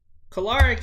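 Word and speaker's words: Kolarek: average for walsh 752 ops another picture on caloric yeah i pronounced it right sixth mlb season for him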